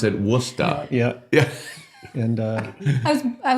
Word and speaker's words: Worcester: But we pronounce it Worusta.